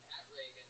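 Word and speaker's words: Pat Regan: That's spelled Patregan. Not like Ronald Reagan. It's announced like Ronald Reagan. Pat Reagan, but there's no A in that.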